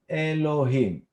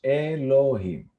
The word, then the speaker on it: Elohim: If we pronounce it, this is called Elohim. Here is the pronunciation in English, Elohim.